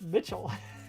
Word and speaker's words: Mitchell: Mitch L. I believe it's pronounced Mitchell. That is true. Spelled differently, though.